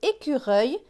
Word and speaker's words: écureuil: Ici, on a un mot, c'est écureuil, qui est écrit avec E-U-I-L. Écureuil. On entend bien le œil.